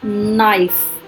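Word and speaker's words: knife: के साइलेंट, के silent, नाइफ, चाकू।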